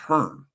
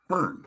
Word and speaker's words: Hohen: Oh, Ram Nation says it's pronounced Hearn. I would have never guessed that based on how it's spelled. Hearn.